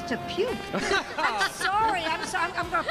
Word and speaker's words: Te Puke: last week came from Te Puki. Te Puki? I thought it was Te Puke.